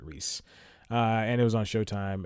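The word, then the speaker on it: Reiss: And Mike Rice. That's how I pronounce it, Reese.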